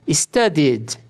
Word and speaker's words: studied: O ED é pronunciado como ID quando o verbo termina com sons de T ou D. É exceção. Exemplos. Study, D. Studied, studied, studied.